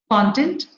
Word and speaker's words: content: So if it is a noun, it is in the beginning. It is on the curve. If it is a verb, it comes on, the stress falls on the second syllable, that is the term.